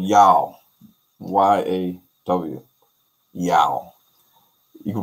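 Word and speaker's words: Yaw: sea scrolls to back it up and the pronunciation of these greek letters is yao yao y-a-w and you see that in ghana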